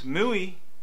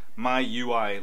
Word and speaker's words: MIUI: Sprint mu sorry it's it's actually pronounced my UI like my user interface um I think the